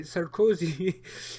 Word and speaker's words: Sarkozy: president uh nicholas um sir cozy did i pronounce his name right sarkozy sounds like cozy wow so cozy you know that aside